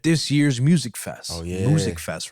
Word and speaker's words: Musikfest: Musikfest, right? Music. Right? That's how they say it.